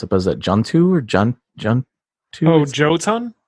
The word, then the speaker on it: Jotun: This is the same studio that came out with, and I'm going to mispronounce it, but is it Juntu or Juntu? Oh, Jotun? Jotun, yeah.